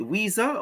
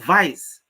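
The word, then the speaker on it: Wiese: Is it Weeza or Weeze? That name has so many different pronunciation. I remember my chemistry teacher in high school, he spelled the same and he called it Mr. Vice. So here you have Vice, Mr. Weeze, Mr. Weezer.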